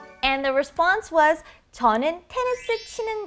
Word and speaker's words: 테니스: And the response was, 저는 테니스 치는 거 좋아해요. I like playing tennis. Now, tennis phonetically in Korean is 테니스, 테니스. 테니스?